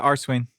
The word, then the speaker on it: Arswain: And particularly in your music and Arswain, am I pronouncing that the right way too? Just Arswain, like that? Yeah, Arswain.